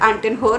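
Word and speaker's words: Anton Hur: really hope it's gone I mean you pronounce it as ant in her only this is a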